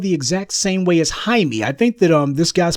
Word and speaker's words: Jaime: And he's letting people call him Jamie because Jamie seems a lot more saleable to a lot more marketable to a black audience than saying Jaime, which is the Spanish pronunciation of it.